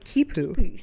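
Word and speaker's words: khipu: there's evidence of uh cute how do you say it Lindsay you told me at the beginning oh kipu yes that's it keep you which is basically like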